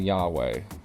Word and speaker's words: Yahweh: We know the consonants Yod-He, Vav-He, but ancient Hebrew didn't have actual vowels, so we just have to make an educated guess at the pronunciation. Scholars have settled on Yahweh.